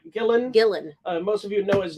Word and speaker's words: Gillan: Gillen.